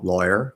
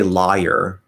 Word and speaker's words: lawyer: like um lawyer right so that would be law lawyer lawyer so we don't say liar liar that one actually uh